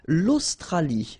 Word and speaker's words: l'Australie: L'Australie, l'Océanie, l'Antarctique, l'Eurasie, l'océan Atlantique, l'océan Pacifique. Okay, so let's see them one more time. L'Australie, final E not pronounced.